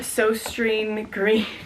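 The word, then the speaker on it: Søstrene Grene: So then there's the store so green. Still haven't looked up how to pronounce. And the proper way to pronounce it in Danish is susten.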